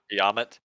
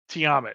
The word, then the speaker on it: Tiamat: all day right um he pronounced Tiamat uh yamet Tiamat yeah I never you said that and immediately that's where my brain went I was like no that's wrong um it was very